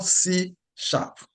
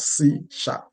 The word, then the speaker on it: C#: okay what is C so it is called CSH it is pronounced as CSH Okay C is a modern object oriented and